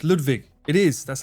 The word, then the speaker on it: Ludwig: How is Lardwig better than Ludwig? No. What? Where did Lard come from? He never said that. He said Ludwig or Ludwig. But it was Ludwig. That's how you should pronounce it.